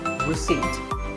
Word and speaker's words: receipt: in world number 24 receipt the P is silent when you purchase something or you pay a bill you get a receipt now if you don't